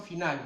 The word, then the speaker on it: finale: C'est la situation finale. D'ailleurs, le E c'est muet, on ne prononce pas le E.